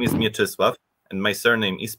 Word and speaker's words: Mieczysław: Asif told already, that my name is Mieczysław. And my surname is. I'm from the University of Łódź. In Polish pronunciation, it is Łódź.